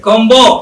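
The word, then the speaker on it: comb: এর পরে কোনো ভাওয়েল নাই, তাহলে বি রিমেইন সাইলেন্ট। দেখেন তো, তাহলে এটা কি হবে? কম্বো নাকি কম?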